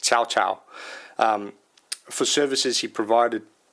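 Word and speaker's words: Cao Cao: c a o CAO but actually pronounced chowchow um for services he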